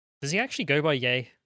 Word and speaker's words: Ye: he actually go by yay he had it legally changed to y e pronounced yay genius anyway big brain